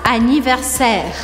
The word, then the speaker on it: anniversaire: Anniversaire. Anniversaire, bastante similar. Terminou com E, eu corto na consoante anterior. Ou seja, que eu não vou pronunciar o E ao final da palavra.